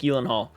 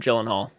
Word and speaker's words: Gyllenhaal: performance by Jake Gyllenhaal I guess it's pronounced Jake uh Elon Hall I think that's how you pronounce it actually Jake elenhaal but people just call him Gyllenhaal The Nightmare on Elm